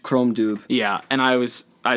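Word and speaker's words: Crom Dubh: comes out chrome Chrome it's CR om space Dubh chrome dude yeah and I was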